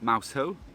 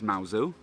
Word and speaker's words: Mousehole: dog-friendly place in cornwall you've all seen mauzu before i actually made a video about it about two years ago where i discussed the correct pronunciation of this place it's not mouse hoe it's mao zou other than wandering around and looking at the